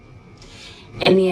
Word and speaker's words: any: important vowels and consonants the word any contains the e as in red vowel even though it's spelled with the letter A it's an and here it's nasalized because it comes before the N consonant in the same syllable n can you hear